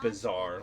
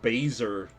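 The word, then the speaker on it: Bazaar: Bazar is a great way to It is pronounced bizarre. Okay. But another way to get good gear is to just make it. So I was gaslighted back then into believing I was pronounced baser by my friends.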